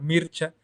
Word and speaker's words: Mircea Eliade: se llama mircea eliade se debería pronunciar marcha pero digamos mircea eliade el el cual odiaba